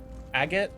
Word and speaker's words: agate: Agate and gold. Also, yes, that is the correct pronunciation of agate.